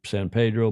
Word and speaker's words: San Pedro: of Los Angeles in San Pedro, as the Angelinos call it. All of us who speak Spanish would say San Pedro, but the locals say San Pedro. In fact, they just say Pedro.